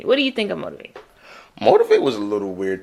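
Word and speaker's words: Motiv8: I'm gonna say Motivate. Mm-hmm. Okay, even though it's spelled motive with an 8.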